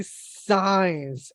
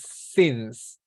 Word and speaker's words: since: said yes since because a lot of students say signs and I don't know why they say signs it is sins okay since so I